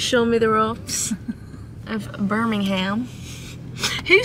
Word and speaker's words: Birmingham: it please right okay i'd like you to pronounce the g my g no we